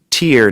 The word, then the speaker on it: tier: And I should clarify, it's tear, not like the tears that come out of your eyes, which are spelled T-E-A-R. This tear is spelled T-I-E-R.